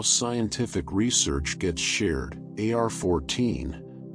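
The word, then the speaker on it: arXiv: For those less familiar with how scientific research gets shared, AR-14, pronounced like the word archive, is an online repository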